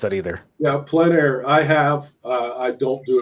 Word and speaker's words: plein air: Does Jim ever work plein air? I don't know how to pronounce that either. Yeah, plein air.